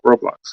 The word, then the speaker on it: Roblox: Yeah, Roblox.